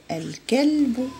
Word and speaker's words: الكلب: الكلب، الكلب. ال نطقناها كتبناها، إذا هي قمرية.